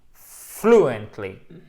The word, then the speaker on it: fluently: Alors, I can't wait to speak fluently. Ok? Alors là, c'est pas I can't wait. C'est pas wait. Non, c'est wait. Ok? To speak, long et fluently. Ok? Bam! Accent tonique sur la première syllabe.